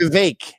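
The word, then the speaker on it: Vivek: vivec wasn't that popular VI it rhymes with cake they give me a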